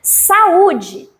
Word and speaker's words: saúde: Há um encontro de duas vogais, porém o a pertence a uma sílaba e o U pertence à outra sílaba. E olha o bloco de pronúncia. Saúde. Saúde. Saíram três blocos de ar, né?